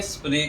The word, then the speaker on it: स्मृति: इसको कैसे उच्चारण करेंगे? स्मृति कहेंगे।